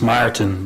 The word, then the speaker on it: Martin: yeah my name is martin thanks sir yeah it's myrton but that's the dutch pronunciation thank you very much